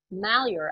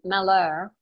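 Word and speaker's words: Malheur: of all it's oregon not oregon and it's mallyar out here not the french pronunciation maler although the french trappers who came through oregon's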